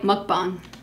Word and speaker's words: mukbang: would be better for us to do the mukbang in my collection room. They said it right, mukbang.